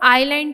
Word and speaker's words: island: Students इसमें S silent है, हम इसको आइलैंड पढ़ेंगे, जजीरा।